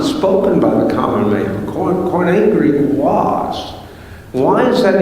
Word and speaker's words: Koine: And if you're spelling that, it's Koine. The E is pronounced like a long A when you say it.